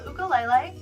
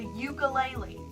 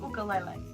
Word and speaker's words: ukulele: I'm teaching myself the ukulele yes that's how it's actually pronounced when I went to Hawaii and bought it they told me there's no such thing as a ulele it's an ukulele and I also sing